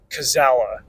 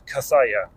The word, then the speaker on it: Cazalla: The audiobook narrator just said Cazalla. And that was like an ice pick to the ears every time I heard it. I do mean to be that guy. The proper pronunciation of that name is Cazalla.